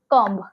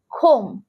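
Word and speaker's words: comb: চিরুনি, চিরুনিকে আমরা ইংলিশে বলি কম্ব, কম্ব, বাট এখানে বিটা সরিয়ে দিতে হবে। খোম, খোম।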